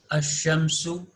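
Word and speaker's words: الشَّمْسُ: Can you observe that lam is not pronounced? Okay. Az-zuhratu, as-samaku, ash-shamsu, al-thadru, al-dayfu, al-talibu, al-zahru, al-laqmu, an-najmu.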